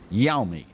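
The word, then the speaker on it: Yeonmi: would you say ben uh uh bill young yummy y-e-o-n-m-i yami park defected from north korea back in 2007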